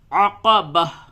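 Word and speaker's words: عقبة: عقبتا میں وقف میں عقبہ، فلقتحم العقبہ، آیت نمبر 12۔ وَمَا أَدْرَاكَ مَا الْعَقَبَةُ، عقبہ، عین اور قاف دونوں حروف کو صحیح سے ادا کریں۔ ہجے یوں ہوگا واو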